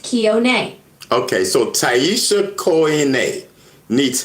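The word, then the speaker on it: Kione: K I O N E is pronounced kon.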